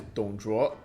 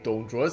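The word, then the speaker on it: 董卓: And I think this one is Dong Zhuo. Not the way that I've been saying it with like a higher inflection. It's got like a lower inflection. So it's Dong Zhuo's death at Lü Bu's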